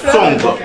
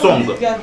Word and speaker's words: Song: Ils disent song, nous on dit son, mais c'est la même chose, c'est le poulet.